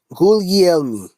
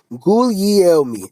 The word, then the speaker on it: Guglielmi: I just want to, how do you pronounce his name? Guglielmi. Guglielmi. Guglielmi.